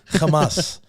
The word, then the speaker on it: Hamas: that's governing there Hamas Hamas Hamas Hamas I think that's how you got to say it properly Hamas you know you got you got to use the back of the throat so when they came